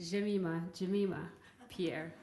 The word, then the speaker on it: Jemima Pierre: My name is actually pronounced Jemima Pierre, so just for clarification.